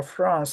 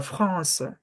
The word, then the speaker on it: France: the the r pronunciation the r you do not pronounce it like in English you pronounce it on your throat like you don't say the La France La France La France